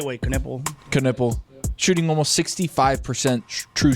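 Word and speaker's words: Knueppel: I say it the right way, Knuppel.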